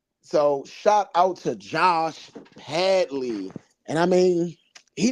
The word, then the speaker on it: Padley: man patley excuse me they called him Patty though Patty is his uh boxing name I keep calling him Patty his Pad Ley okay I don't want